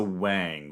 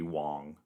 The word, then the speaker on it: Wang: Lisa Wang would be the pronunciation. If it had an O, it'd be Wong. Lisa Wang.